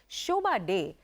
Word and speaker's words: Shobhaa De: read it, I'm like, Shobha Day. That name is iconic. The acute E, you know, like the French accent on the day, all of that, you know, the Shobha with the double A.